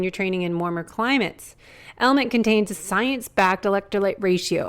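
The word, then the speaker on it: LMNT: sponsors LMN element it's spelled l MNT but pronounced element if you haven't heard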